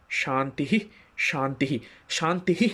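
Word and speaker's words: শান্তিঃ: আমাদের ওমকার ওম শান্তি শান্তিহি শান্তিহি তিনবার শান্তিহি শান্তিহি শান্তিহি শান্তিহি এই যে একটা আমি শ্বাস ছাড়ছি মানে শান্তিহি একটা জোর করে বোঝি তার কারণটা হচ্ছে শান্তি শব্দের পর একটা বিসর্গ আছে সংস্কৃতে তো সেটাকে শান্তিহি শান্তিহি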